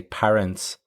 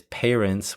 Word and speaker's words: parents: it's quite common to hear them say parents with pa. The correct way to say it, however, is parents with pay, the same way you would say the verb to pay.